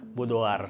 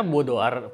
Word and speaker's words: boudoir: tentang bodoa fotografi ini ingat ya cara bacanya bodoar boar semoga enggak salah tapi e term Ini